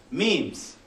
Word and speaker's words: meme: So, small meme rhymes with cream, the smallest unit of